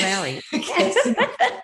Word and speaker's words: Lowres: Lowres, is that how you say it? That's close enough. Yes, Lowry. I'll go with that.